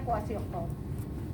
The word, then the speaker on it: kwashiorkor: Marasmus, kwashiorkor, tulisannya KW kwashiorkor. Susah banget tulisannya. Ya, bacanya kwashiorkor.